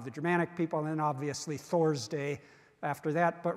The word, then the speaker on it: Thor: So you think of some English T, and Thor isn't going to work because that's spelled with a T, but it's not pronounced T, it's pronounced Th.